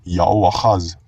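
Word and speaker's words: Jehoahaz: At ang Joahaz naman o Yoahaz sa Masoretic Hebrew ay Yaoahaz.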